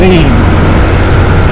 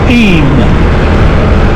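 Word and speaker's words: Eyam: great taking us down into the village of e it's it's spelled IM but it's pronounced e the plague Village the inhabitant during the plate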